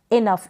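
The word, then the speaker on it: enough: Next है इनफ, इसको आप इनफ पढ़ेंगे। क्या पढ़ेंगे? इनफ। GH को क्या पढ़ा? फ लिखा है यहाँ पर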